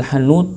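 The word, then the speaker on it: حنوط: Hanut itu dalam kama fil minhaj ya, bi fathil ha bacanya hanut, itu naun minat thayyib ya, adalah bagian daripada thayyib.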